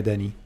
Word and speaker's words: Dani: I pronounce it the French way, Dani.